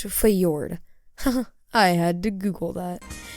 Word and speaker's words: Fjord: Okay, it's pronounced Fjord.